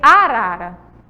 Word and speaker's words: arara: Coloquei aí arara. Eu coloquei aí arara. E eu destaquei a sílaba tônica.